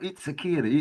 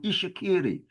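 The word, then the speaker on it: Itsekiri: Look, you see this TS is pronounced not itakiri, it's called Ishakiri.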